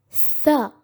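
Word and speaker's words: ث: The letter Tha is pronounced by placing our teeth on top of our tongue and trying to say Sa. Tha.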